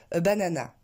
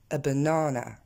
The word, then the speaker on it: banana: Or, en anglais, on va le prononcer a banana.